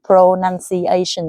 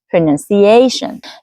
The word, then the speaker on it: pronunciation: So you don't want to say something like pron pronunciation is like put equal stress to every syllable. No you want to stress on a. Sorry it's too summing here. pronunciation.